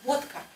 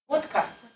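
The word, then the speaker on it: водка: What can you hear when I say vodka? Vodka. What do you hear? He changed the D to a T.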